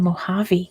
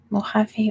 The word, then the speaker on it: Mojave: the Northern Territory yeah it's spelled with a J but it's pronounced like an H because it's some Spanish um let's see what